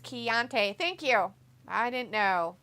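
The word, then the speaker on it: Chianti: I know you're in Florida Rob says it's pronounced chiante thank you I didn't know and I couldn't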